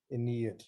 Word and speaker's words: Ennead: but the stress is here. And the other one, however you spell it, the stress is here. Ennead. Ennead, yes.